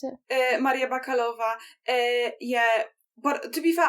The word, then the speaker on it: Maria Bakalova: And Maria Bakalova, is that how you pronounce it? Maria Bakalova, yeah.